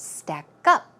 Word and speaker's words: stack up: always keep in mind when you usually have two words compound word the stress goes on the second syllable so it's not stack up its stack up stack up one more